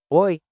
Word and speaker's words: oi: Oi, oi. This one's even easier. It's a casual, hi. Just like the sound in boy, but shorter.